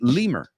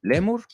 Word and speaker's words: lemur: the movies is the Lemur you say lemur I believe not mistaken so you can you'll recognize the word right when you see it you know but in English is lemur reminds me of lemura